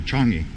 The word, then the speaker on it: Changi: or not done by Changi you know Changi is kind of far away from here or chun-hee as they would pronounce it anyway that'll wrap it